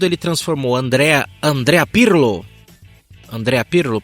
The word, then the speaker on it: Andrea Pirlo: Andrea Pirlo. Pronunciai.